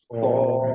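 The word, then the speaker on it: ص: Sod, Sod, देखिए इसमें ना, अगर हम जब इसको प्रोनाउंस करते हैं ना, तो वाव की आवाज नहीं आनी चाहिए। देखिए, स्व नहीं हो, बल्कि सीधी आवाज है, सौद।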